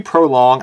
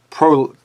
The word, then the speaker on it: Prologue: 3 Prolong. I feel like Prolong, Prologue. I keep saying Prolong, and somebody's going to go smack their head on their keyboard. But 3, how I got to pronounce it properly.